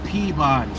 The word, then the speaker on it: Peabody: If you look at the spelling, if you look at the spelling, being that you're not from here, you're going to say PE body. P E A body.